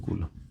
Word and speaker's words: coulomb: बोल क्या सकते हैं, बोलते हैं कूलम, COULOMB।